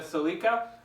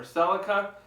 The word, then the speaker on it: Celica: baby right here my 1973 Toyota Celica or Celica depends where you are in the world as to pronunciation as I've said before